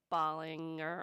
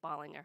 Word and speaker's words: Bollinger: So, again, my name is Bollinger or Bollinger. You can pronounce it either way. So my husband says Bollinger. I say Bollinger.